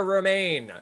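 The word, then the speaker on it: Romijn: actress has explained that it's quote like the lettuce on the pronunciation of her last name what actress has explained that it's Reina that is correct Rebecca remain and that will do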